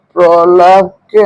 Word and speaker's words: প্রলাপ: মনীষাকে আমরা মনীষা বলি শব্দের শুরুতে ব্যঞ্জন বর্ণের সাথে র ফলা থাকলে রফলা থাকলে তার উচ্চারণ ও বদ যেমন প্রলাপকে আমরা প্রলাপ বলি শব্দের শুরুতে ব্যঞ্জন বর্ণ